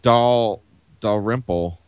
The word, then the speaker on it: Dalrymple: iOS devices, the ever-reliable Jim, how do you pronounce his name? Oops. Jim Dalrymple.